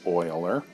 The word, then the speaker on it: Euler: That is a symbol that Euler, and his name is spelled like this, and pronounced Euler.